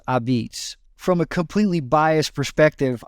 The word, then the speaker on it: a'pizza: and it's that's how it's spelled and it's pronounced abids from a completely biased perspective I would say